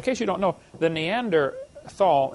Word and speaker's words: Neanderthal: you don't know the neander Thal neander tall the H is silent neander tall man is named after